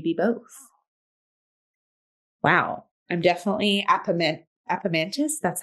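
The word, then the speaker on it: Apemantus: I'm definitely Appomantis.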